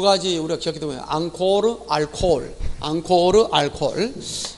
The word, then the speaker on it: 앙코르: 앙코르 알코올. 앵콜하면 안 됩니다.